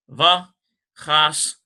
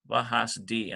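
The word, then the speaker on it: וְחַסְדִּי: Vahasdi. I don't know why I said do. I was thinking it right, but I said it wrong.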